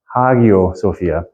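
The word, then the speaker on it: Hagia Sophia: in ancient in in coin Greek it is pronounced hagio Sophia and it's written like okay hagio sopia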